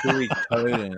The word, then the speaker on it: Suikoden: Suikoden. Now you're fucking me up. Suikoden. All right. So God damn, it's catchy. Suikoden. Yeah. Suey, like chop suey.